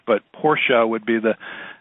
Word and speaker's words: Porsche: that Americans tend to tend to make it Porsche but Porsche would be the correct pronunciation and we'll we'll go through that very